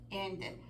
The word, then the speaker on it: ended: a la hora del pasado Ed waited needed ended por qué porque tenemos tendemos a pronunciar esa d cuando leemos decimos Used y